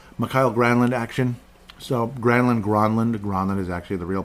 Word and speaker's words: Granlund: So Granlund is actually the real pronunciation.